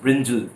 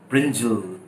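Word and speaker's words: brinjal: बैंगन इज ब्रिंजल, इट इज नॉट ब्रिंजाल, इट इज ब्रिंजल, ब्रिंजल।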